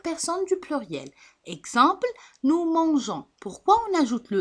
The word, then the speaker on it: mangeons: Exemple, nous mangeons.